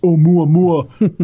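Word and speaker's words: ʻOumuamua: Considering an artificial origin, one possibility is that Oumuamua, pronounced Oumuamua, as it says in the article, is a light sail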